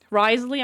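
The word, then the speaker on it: Wriothesley: head again and remember how they say to pronounce the name. Risley.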